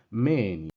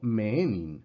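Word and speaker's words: μῆνιν: Menin, no meenin, sino menin.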